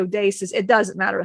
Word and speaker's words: Odysseus: You guys say Odysseus, it's actually Odysseus.